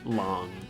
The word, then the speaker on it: Long: to be Chinese, and the Chinese pronunciation of it is Long and not Lang.